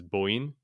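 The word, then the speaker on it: 母音: So the word for vowel in Japanese is boin, and it's an interesting word because it's irregular pronunciation. The characters are mother and sound, which would normally be, haha and oto, and haha I think is pronounced usually bo.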